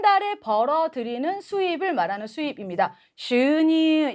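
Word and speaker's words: 収入: 슈니 양쪽에 장음 발음.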